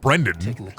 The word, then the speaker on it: Brendyn: No, I met somebody at GameStop whose name was Brendyn, BrynDyn, pronounced Brendan.